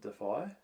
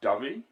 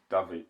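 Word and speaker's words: Dyfi: cuz that's part of the defy is it defy so how they say yeah oh it's it's pronounced dubby dubby yeah yeah I think yeah Davi Davi yeah it's Welsh yeah but it's not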